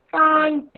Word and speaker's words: front: देखो FR का क्या साउंड होगा? फ्र, ONT, अंट, फ्रंट, ठीक है ना। फ्र, अंट, फ्रंट, ओके, फ्रंट। यहाँ पे फ्र, FRO का साउंड ही फ्र है, ओ यहाँ पे साइलेंट है, ओ साउंड नहीं है, तो NT, अंट, फ्रंट, यस, फ्रंट, very good.